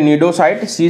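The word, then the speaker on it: Cnidaria: से हैं या फिर नीडो साइट-सी साइलेंट होता है यह फिस्टिंग सेंड ए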